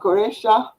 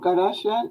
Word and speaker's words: Quraysh: They're called Goresha or Garasha now, or that's how it's pronounced now.